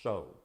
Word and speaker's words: So: that dynasty was s-a-i-s and in hebrew it's pronounced so uh and so if